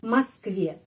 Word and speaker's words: Москве: Будешь в Москве. Москве penеkanannya di sini. Karena itu O ini pengucapannya A. Karena tidak dapat penekanan. Москве.